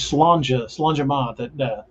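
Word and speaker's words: Sláinte: Like the phrase slanja that Doc and I often say to one another is spelled SLAINTE MHATH. That doesn't sound anything like what it looks like.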